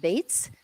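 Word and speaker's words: Zazie Beetz: Actress Zazie Bates and actor Jack Quaid.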